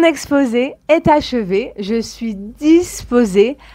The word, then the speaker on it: disposée: prête est disposé disposé au féminin nous allons ajouter un e mais il ne se prononce pas mon exposé est achevé je suis disposée à entamer notre discussion